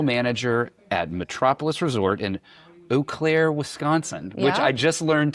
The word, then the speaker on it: Eau Claire: at Metropolis Resort in Oaklair, Wisconsin, which I just learned today how to pronounce. So yeah, it's not E-clair, it's Oaklair.